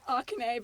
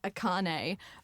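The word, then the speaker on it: Akarnae: I pronounced it Arcane before I did it. I would say 70 or 80% of people do pronounce that. But the R is after the... I'm like, wait, how did I spell it? Yeah, the K comes first, but a lot of people, I don't know why, for some reason, maybe it's the foil, but it does, definitely Akane, but I don't care.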